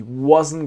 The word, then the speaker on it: wasn't: And then the T is silent. He wasn't gonna do.